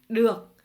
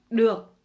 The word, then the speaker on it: được: Ici, vous remarquerez que le D, nous avons une petite barre. Et cette barre-là fait que le D se prononce D.